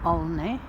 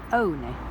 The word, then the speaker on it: Olney: which some people pronounce only because it's spelt like that but a nice gentleman in the museum told me last year that locals pronounce it only and here we're starting